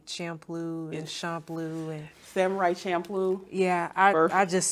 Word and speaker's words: Champloo: Some people say Champloo and Champloo and Samurai Champloo. yeah. I just say that. That's what I say. Yeah. I think that's correct too, because it's CHA, so it wouldn't be shampoo.